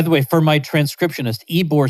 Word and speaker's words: Ybor: way for my transcriptionist ebor city is spelled ybor so if you're having